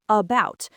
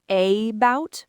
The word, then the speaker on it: about: It's everywhere, like in the first syllable of about. We don't say a-bout, we say about.